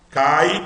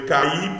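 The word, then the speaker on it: καί: Cai, sílaba longa, porque tem um ditongo. Cai, cai. Você não lê cair, porque senão você estava separando o ditongo. É cai, cai. É um ditongo, é uma sílaba só, é uma sílaba longa.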